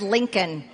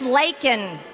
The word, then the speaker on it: Laken: even say it right he said Lincoln her name is Laken Laken Riley but you want